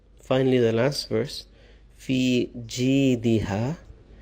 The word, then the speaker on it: جيدها: في جيدها. Some of our elders have the problem with the jim. Sometimes they pronounce it as za. في زيدها. It's completely wrong.